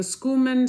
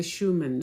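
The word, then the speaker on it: Schumann: So there is a what is called this the the some people say the schumman some people it's actually the Schuman.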